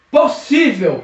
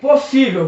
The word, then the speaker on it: possível: Possível. Possível. Veja os exemplos passando aqui. Possível. Possível acentua-se porque a sílaba tônica é o sível.